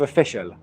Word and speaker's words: official: uh mustafa is uh it's a schwa sound at the beginning of official okay it's not an o sound it's uh official but